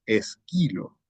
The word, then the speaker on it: Esquilo: porque el profesor sarcos está pronunciando mal el nombre de esquilo está pronunciando esdrújula y no es es ahí donde está